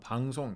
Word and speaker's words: 방송: 말하다, 방송 이런 장음 같은 거 잘 눌러서 지켜주시고요.